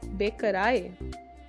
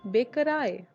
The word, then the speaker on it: Bäckerei: Next one is EI, which is always pronounced as I, die Bäckerei, die Bäckerei.